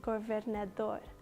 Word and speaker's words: governador: And the word is pronounced governador.